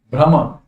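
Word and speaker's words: bhrama: Third, brahma. What is that? Brahma. See the pronunciation.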